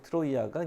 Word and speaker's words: 트로이아: 트로이는 영어식 발음이고 트로이아가 이제 그리스 원 발음이에요.